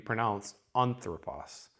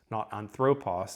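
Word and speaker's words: ἄνθρωπος: The word anthropos, you're going to expect the accent to be on the first syllable.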